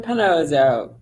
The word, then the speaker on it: Panozzo: Do you want to pronounce that for our listeners? Panozzo.